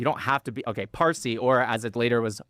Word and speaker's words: Farsi: You have to be You don't have to be Okay, Farsi or as it later was Farsi because the Arabs could not pronounce the P, so it became Farsi, right?